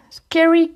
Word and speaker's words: scary: Hop, en anglais, le A se prononce E. Scary Cute.